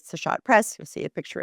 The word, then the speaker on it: Seshat: It's spelled s e s h a t, Seshat Press.